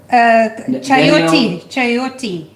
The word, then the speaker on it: chayote: Chayote. Oh, is that how you say it? Yeah, chayote. It's like you've done this before. Is that? It's like coyote, I think.